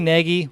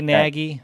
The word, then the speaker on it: Nagy: It's technically Nagy. We say Nagy. I try to say Nagy, but whatever you want.